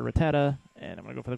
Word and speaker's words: Rattata: Pidgey so going to switch to Rattata or rata depending on which pronunciation you want to use like the one from uh Pokemon Stadium but I prefer Rattata and I'm going to